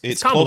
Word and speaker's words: Kamala: It's Kamala, closer right? it's close to Kamala. Yeah, Eddie's saying it like right as I understand it. Is it Kamala or Kamala? It's like comma.